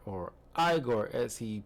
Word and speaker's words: Igor: Marty Feldman as Eigor or Igore as he pronounced it.